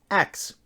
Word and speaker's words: ask: so in medieval england the word ask was actually pronounced ax this pronunciation of the